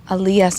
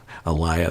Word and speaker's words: Aaliyah: that's it yeah okay I heard her name Aaliyah so I was mispronouncing Aliyah's name the that must have been really annoying to hear me say AIA the whole time Kobe I know I